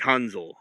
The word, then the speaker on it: Hansel: The right pronunciation is like Hanzel from like the German pronunciation of it.